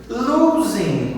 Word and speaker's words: losing: You are always, ele usa a palavra always, de sempre, losing, ó, vai o ing de novo, né? Losing, G não se pronuncia, né?